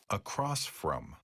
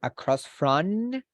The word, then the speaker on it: across from: with the letter N I don't want you to say across front now we this is labial a labial letter I will say because we have to close the lips so the upper lip and the lower lip are going to be closed so across from like